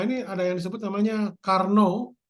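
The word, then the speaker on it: Carnot: ada yang disebut namanya Karno Karno itu bacanya karn tulisannya karnot Karno ya jadi ee apa namanya ini orang Prancis ya Jadi intinya proses Karno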